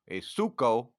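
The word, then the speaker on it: ψύχω: Okay, so get the Greek word for cold is suko, which is actually spelled like psycho.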